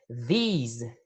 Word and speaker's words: these: Em seguida, nós temos these. Observem a pronúncia. These. O som é mais longo. Então, nós temos this e these. Reparem na diferença de pronúncia.